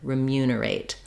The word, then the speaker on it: remunerate: that second syllable mu that means that the first syllable letters re e are not going to say a clear vowel but rather the reduced I sound so rather than remunerate